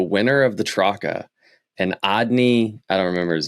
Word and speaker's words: Adne: It's Andy, dude. It's ANDE. No, it's ADNE. Adni.